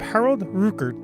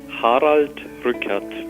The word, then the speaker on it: Harald Rückert: Germany Central Conference Bishop Harold Ruger which is a terrible pronunciation of his name I asked him to say it for me so we could hear it correctly Hodge recaps it's not so easy